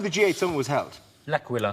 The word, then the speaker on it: L'Aquila: L'Aquila. Laka squawkalaka. I could never pronounce that word. That's okay. It is a night of bad Italian impersonation, so we'll let you in. But it's called L'Aquila. Yeah.